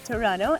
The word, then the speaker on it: Toronto: capital city that would be a tower but Toronto and this is how it should be pronounced the second apparently is silent you know